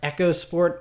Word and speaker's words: EcoSport: Ford echos sport it's it's spelled EOS sport but apparently it's supposed to be pronounced Echo sport I'm sure no one's